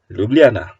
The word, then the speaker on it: Ljubljana: Now we are at the Prešern Square, It's indeed confusing to pronounce, The "J" pronounces like "iy" So ... Liyubliyana ... Liyublyana .. Ljubljana!